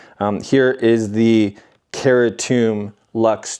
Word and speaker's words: Certum: I'm not sure why or how they got that pronunciation Certum because if you look up the word Certum or c e r tu m, it's Latin for certain. And the pronunciation is Certum.